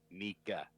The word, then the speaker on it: Nikka: Nikka.